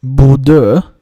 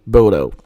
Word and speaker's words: Bodø: Yes, I know the town is pronounced Buddha because I studied Norwegian a while back.